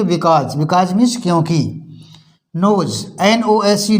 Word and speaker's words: because: बिकॉज, BECAUSE, एस से पहले vowel है तो इसको बोलेंगे बिकॉज।